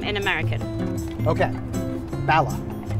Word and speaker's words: Bala: Okay, Bala. Bala, pretty much the same.